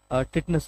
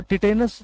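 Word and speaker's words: tetanus: Okay, चौथी बीमारी आप मान के चलें कौन सी लें, टिटनस ले लेते हैं। चलिए, तो टिटेनस जो होती है इसको बहुत से लोग टेटनिस बोलते हैं, कुछ लोग टिटेनस बोलते हैं, कुछ लोग टिटनस बोलते हैं।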